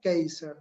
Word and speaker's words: Kasser: Que desarrolló un reconocido psicólogo llamado Tim Keiser. Se escribe, si lo quieren buscar después, Kasser.